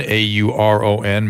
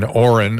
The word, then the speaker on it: Auron: And I keep saying Auron, I think is proper pronunciation.